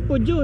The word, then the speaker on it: Peugeot: ganda ng mga modelo niya no tama baang pronunciation pujo no pujo Yes po testing ka Boss sige